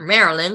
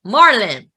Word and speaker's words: Marlin: It's not Marilyn, like there's no I there. I'm like, say it right. Marlin, Dr. Marlin.